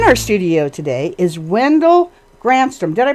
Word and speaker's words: Ganstrom: In our studio today is Wendell Ganstrom. Did I pronounce that right? No. No, I slaughtered it? Give me the right pronunciation, Wendell. Ganstrom. Ganstrom.